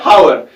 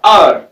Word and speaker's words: hour: ये क्या होता है, हावर। हावर नहीं है, ये हम प्रोनाउंस करते हैं OUR, आर। और यहां पे जो ये H है, ये यहां पे साइलेंट रहता है और इसके साथ भी